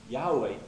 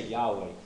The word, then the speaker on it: Yahweh: could and I came to the conclusion it's Yahweh you have to come to whatever conclusion you